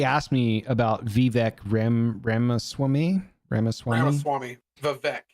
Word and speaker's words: Vivek: Vivek. It's pronounced Vivek Ramaswamy.